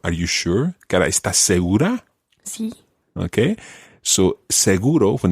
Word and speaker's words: seguro: so Does it include the insurance for example seguro is an adjective in Spanish also it means say for sure so for example esta seguro are you sure okay so seguro when it's used as a noun is used